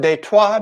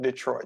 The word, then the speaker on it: Detroit: don't live there anymore detroit they twice detroit and how we pronounce it in english and what de trois means is the street